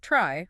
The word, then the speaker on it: trie: # Why the name itself, Trey, pronounced try, apparently comes from the word retrieval, which is exactly what we need.